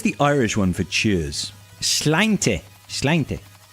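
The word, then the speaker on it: Sláinte: Slainte. Slainte. I might be mispronouncing that. I think it's slainte.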